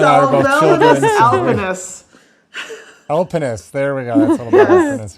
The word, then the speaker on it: Salvelinus alpinus: Salvelinus alpinus. Alpinus. There we go. That's a little better pronunciation.